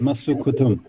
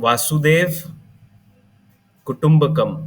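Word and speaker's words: Vasudhaiva Kutumbakam: Masu Kutum. It's called Vasudev Kutumbakam.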